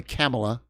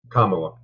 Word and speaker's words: Kamala: um the only only camela camela is that how you say it Kamala oh Kamala it's Hawaiian right Kamala